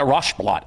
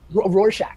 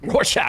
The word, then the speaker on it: Rorschach: Like a Rochblot or whatever that's called. Rorschach. Rorschach.